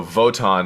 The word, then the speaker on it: Wotan: And so Wotan is the German spelling and pronunciation of Odin, the Viking Allfather, who's